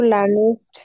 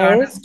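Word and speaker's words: lernst: ডু লার্নেস্ট ডু ডয়েস, লার্নেস্ট না, ডু লার্নস্ট, লার্নস্ট।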